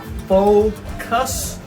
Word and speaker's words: Fokoos: here it's pronounced as full cuss this is how the company wants everybody to pronounce that i find it really